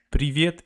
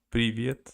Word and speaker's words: привет: So, привет, it's written like this. Привет. Привет. Привет. Oh. Can you hear me accent even when I say that? I hear that you can't pronounce the letter R.